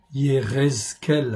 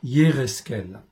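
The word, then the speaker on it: יחזקאל: Ézéchiel 43, Yérezkel, en fait en hébreu, c'est pas toujours facile à prononcer, Yérezkel.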